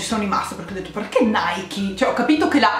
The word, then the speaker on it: Nike: fin qua ci arrivavamo e dicono che si pronunci mai chi quindi ho sempre sbagliato io vi prego scrivetemi se voi avete mai pronunciato mai chi non lo avete sempre pronunciato mike perché io non ho mai sentito nessun appunto se non gli americani pronunciarlo mikey ma sembra che effettivamente si pronunci proprio così dai kit da oggi